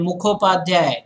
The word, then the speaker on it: Mukhopadhyay: It's actually Bandopadhyay, not Banerjee, and Mukhopadhyay, not Mukherjee.